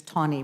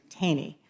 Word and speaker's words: Taney: First of all, I appreciate the fact that the representative from Illinois and I share the Taney versus Tawney problem. In Philadelphia, we say Taney.